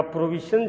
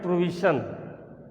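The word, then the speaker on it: prohibition: यह प्रोविजन जो है ये थोड़ा साइलेंट करके स्पीक करते हैं। प्रोविजन, प्रोविजन मीन्स होता है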